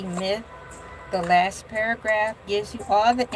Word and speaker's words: ELAY: king be and I, LA, pronounced like LA, like the city I'm not from there, but I'm breezy truly believe that there is a such thing.